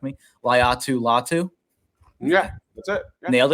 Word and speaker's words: Laiatu Latu: Laiatu Latu.